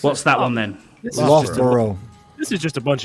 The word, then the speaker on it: Loughborough: It's Loughborough is how it's Where is pronounced.